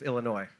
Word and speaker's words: Illinois: is the capital of Illinois silent s nice now they have